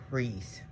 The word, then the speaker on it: Rhys: american r-e-e-s-e version but they're pronounced the same but i think you put a little more emphasis on the h in hers like rhys so yeah and she